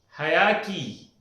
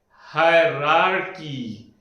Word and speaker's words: hierarchy: This is hierarchy. No, this is called as hierarchy. Most of the time I have seen people saying that hierarchy. No, it is not hierarchy. But the correct pronunciation is hierarchy. 2 R are there in between. So the correct pronunciation is hierarchy, not hierarchy.